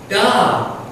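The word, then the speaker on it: да: Da.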